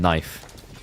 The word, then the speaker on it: knife: into the language remember there is no K noise in knife so welcome to English